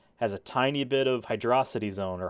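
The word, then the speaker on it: Hydrocity: zone or Hydro City it's hydrosity Zone has a little bit of that in there that in that in that music because there's no space in the name so it's how you pronounce it it's not Hydro city um part of the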